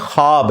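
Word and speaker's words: خواب: नहीं आ सकता अच्छा यह लफ्ज लिखने में है ख्वाब ख वा अलिफ बा लेकिन पढ़ने में यह ख्वाब है वाओ साइलेंट हो जाता है ख्वाब पढ़ा जाता है यह लफ्ज़ उर्दू में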